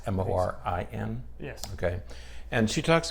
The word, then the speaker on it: Morin: So with that as background, we thought we'd talk about this article today by Amy, I think she pronounces her name Morin. It's Morin.